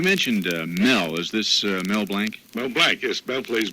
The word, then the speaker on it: Blanc: Is this Mel Blanc? Mel Blanc, yes. Mel plays Barney. Mel It's Blanc.